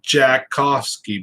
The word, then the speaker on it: Tchaikovsky: tchaikovsky you know and his name spelt like chai koski but they pronounced it jakkovsky basically and i couldn't stop rolling